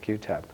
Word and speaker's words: Qutub: is representative iene CB and yes that's the way you pronounce your name if you're wondering about the spelling it is pronounced QB if you ever have